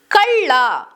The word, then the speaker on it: ಕಳ್ಳ: La is pronounced as la in kalla. Kalla, which means thief.